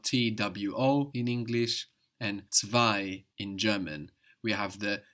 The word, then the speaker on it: zwei: T-W-O in English, and zwei in German. We have the Z like TS, we have the W like a V, and then we have that EI giving us I, zwei.